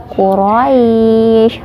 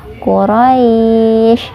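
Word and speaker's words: قُرَيْش: juga di ilafi Quraisy Quraisy rohnya dibaca tafkhim kemudian mulai ini hukumnya nazlin ya Kenapa madlin karena daya sukun bertemu dengan huruf sebelumnya berharakat fathah kemudian disukunkan Jadi dibacanya panjang Quraisy Hai medcline kemudian ada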